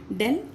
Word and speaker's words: del: So just I wrote this one d is pronunciation like this dell and uh that is